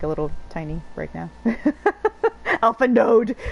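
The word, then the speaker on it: Alphinaud: Alpha node! Like, no, the D is silent! You don't say the D!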